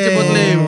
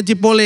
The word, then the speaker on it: Chipotle: Iya, Chipotle. Bacanya Cipole katanya. Cipolle.